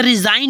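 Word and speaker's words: resign: जैसे साइन हो गया जैसे रिजाइन हो गया आर ई एस आई जी एन होता है पर बट यहां देखो जी का साइन जी का साउंड आया नहीं आया तो हो गया रिजाइन जैसे है नेक्स्ट नर्ल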